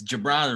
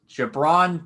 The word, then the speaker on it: Gi'Bran: The way I say it, it's Gi'Bran. It rhymes with LeBron. Gi'Bran Payne.